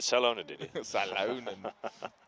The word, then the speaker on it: Salonen: Salonen. In Finland, you'd pronounce Salonen. it Salonen.